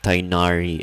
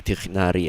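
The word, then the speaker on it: Tighnari: Well, they do mispronounce a lot of things like Tainari and what was the other one? Risley, which is supposed to be Tichnari and Risley.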